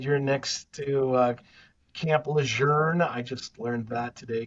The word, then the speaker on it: Camp Lejeune: You had said you're next to uh Camp Leour. I just learned that today. Camp Leern is the correct pronunciation of I've always said Camp Lun. So now it's Camp Learn, I guess is the correct pronunciation, but um